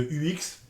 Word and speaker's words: UX: euh terminologie de UX, attention euh dites bien UX à la française. Ne vous aventurez pas dans des prononciations à l'anglaise. Euh dites bien UX. Si vous êtes dans un milieu anglophone, vous pouvez tenter le UX. Mais c'est bien un UX. Attention au mélange du U à la française, du U à l'anglaise, le X à la française. Méfiez-vous des prononciations. Donc, restons franco-français et prononçons UX.